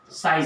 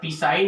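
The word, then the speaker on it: psi: Wave function को किसी denote करते हैं, साई से रिप्रेजेंट करते हैं। ये ऐसा लिखा रहता है, पी साई नहीं बोलते, पी साइलेंट है इसमें।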